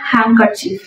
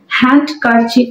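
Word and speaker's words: handkerchief: wipe your nose with হ্যাংকার chief wipe your nose with হ্যাংকার chief হ্যান্ডকারচিফ হবে না এখানে D silent হ্যাংকারচিফ অথবা বলতে পারি ব্লো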